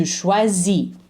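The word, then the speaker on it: choisis: the ending okay to schwazi don't pronounce the S ill schwazi don't pronounce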